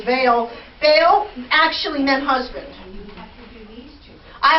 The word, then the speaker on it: Baal: That term Baal, or we talk about, I've heard it said Baal, but I think that the correct pronunciation is Baal.